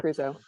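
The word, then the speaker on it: Creuzot: Crusoe, right? Is that how you say his name? Yeah, John right? Crusoe.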